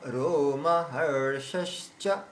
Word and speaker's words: রোমহর্ষশ্চ: রোমহর্ষশ্চ, রোমহর্ষশ্চ, রোমহর্ষশ্চ, এই যে হর, হর বলছি না, ওখানে এই জিভটাকে উপরে সেটিং করতে হবে আর স্বয়ের উচ্চারণ বের করতে হবে। রোমহর্ষশ্চ, হর্ষ, আর স, ওখানে বলেই তারপরে তালু স্বয়ের উচ্চারণে চলে আসতে স।